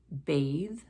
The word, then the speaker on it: bathe: And at the end of the word, bathe, loathe, smooth. And again, we're talking about sounds here, not just letters. So bathe and loathe end with an E, but that E is silent.